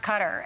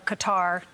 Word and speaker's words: Qatar: this inauguration he left cutter and or Qatar you can pronounce it either way but he left